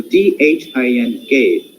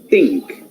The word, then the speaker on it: think: We pronounce these sounds as th, th, the. For example, THINK. We generally, in Indian situation, we pronounce think. Actually, it is fricative. That's why we are supposed to pronounce it as think, think, think.